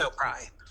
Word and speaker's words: O'Pry: Can you pronounce that is it O'Pry? It's O'Pry.